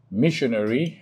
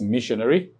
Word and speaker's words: missionary: That's the third to the last syllable. Now, syllabic division for the word missionary is M-I-S-S-I-O-A, then R-Y. You can see that. So that's missionary.